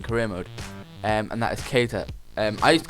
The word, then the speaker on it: Keita: That's just the way I looked at his name, and then I heard the commentator say Keita, so that's how his name's pronounced, Keita.